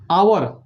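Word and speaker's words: hour: ठीक उसी प्रकार यहाँ एच तो कॉन्सोनेंट है परंतु इसका उच्चारण करते समय यहाँ अ यानी कि आवर आ रहा है, इसलिए इसके पहले एन का उपयोग करेंगे।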